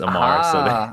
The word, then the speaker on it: Ammar: My name's Ammar, so just replace the X with an A, and it's Ammar. Ammar.